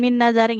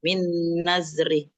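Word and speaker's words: مِن نَّذْرٍ: Nah, kemudian ini bukan bukan min nazari ya harakat tanda bacanya Ibu. Nah, hati-hati ya. Fathah kasrah sukunnya enggak boleh ketukar. Min nazri.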